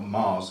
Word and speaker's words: Maz: It seems there's nothing Mars does not, or Mars is how Harrison Ford pronounces it.